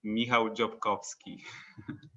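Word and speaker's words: Michał Dziobkowski: come from poland and my full name is mihao jokovsky oh great so uh can i have your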